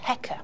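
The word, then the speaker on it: heqa: and that's written with two symbols and that's pronounced hecka it means ruler and then the third of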